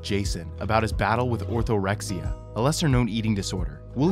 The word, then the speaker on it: orthorexia: very much about it, how would you describe orthorexia? Am I pronouncing that even correctly?